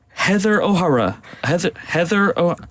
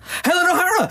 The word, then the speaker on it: Helen O'Hara: Her name is, am I pronouncing this right? Heather O'Hara. Helen O'Hara!